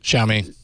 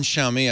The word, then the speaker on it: Xiaomi: I can't remember I'm not going to to pronounce the name of the Chinese company is it xiaomi xiaomi thank you but you know their strategy I